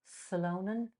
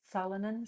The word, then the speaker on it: solanine: a particular product in nightshade, uh, solonin, solonin, So, Yeah, however we pronounce it. Solanine.